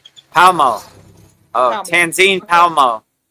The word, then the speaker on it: Palmo: So it's Tanzine Palmo. So Palamo. Is that what I said or we I guess it's no pala. It's just palmo. Palmo. Palmo.